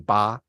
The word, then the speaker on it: 八: By the way, guys, 8 pronounced in 八 in Chinese.